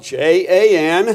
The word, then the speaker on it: Jan: Okay, it's spelled J-A-N.